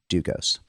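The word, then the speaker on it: Dlugos: The L in his name, by the way, is silent.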